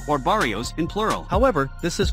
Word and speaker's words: barrio: word is Barrio or Barrios in plural however this is probably misspelled on purpose as in Mexican and Chicano Spanish dialects the sound of B and V are basically pronounced the same way foreign